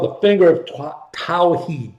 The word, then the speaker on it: Tawhid: It's called the finger of Tawhid. Tawheed is the English pronunciation, Tawhid.